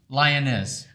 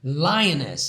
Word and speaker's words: Lianez: how do you say your last name lioness lioness how do you spell that l i a n e z you